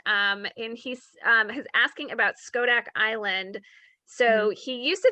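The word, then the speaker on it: Schodack: fire in any case it's probably not pronounced shodak but more like skodak okay so thank you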